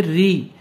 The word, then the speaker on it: ऋ: ज्यादा गलती होती है इसे बच्चे ऋषि बोलते हैं लेकिन यह ऋषि नहीं है यह उच्चारण जो है इस स्वर का है री और ऋ से जो